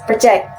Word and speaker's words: project: So, the word stress is on the first syllable. When it's a verb, the the word stress is moved to the second syllable, project.